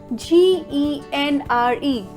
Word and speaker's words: genre: It's genre. Genre. Okay? Z-O-N, zon, ra, R-U-H, R-U-H, genre. Where it is mispronounced as genre because of gen, G-E-N, gen, E-R, or genre, that is J-O-N-A-R, genre. But it must be pronounced as genre, genre.